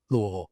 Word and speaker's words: Louisville: Provo to Louisville. I love how you pronounced it correctly. Louisville.